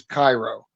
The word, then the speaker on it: Cairo: So the correct pronunciation is Cairo.